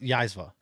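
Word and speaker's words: Zyzzyva: It's pronounced Yaizva.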